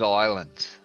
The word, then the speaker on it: islands: look at all those islands now again islands is lens Island it's a silent s no your queen's English